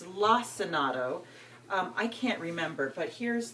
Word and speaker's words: Lacinato: And while I'm doing that, I will go ahead and chop up my, I want to say Lacinato with a hard C. My friend Tara, I believe she said it's Lacinato.